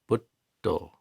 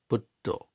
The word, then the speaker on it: Buddho: You end up pronouncing another D. So Buddho, Buddho.